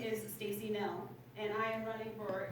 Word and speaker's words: Knoell: I know it looks like Knoll, but it's actually Knoell.